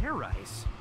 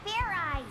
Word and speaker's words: fairize: Fair rice? Is that sort of like fried rice? Idiot. It's pronounced fairize. There's no ice in it.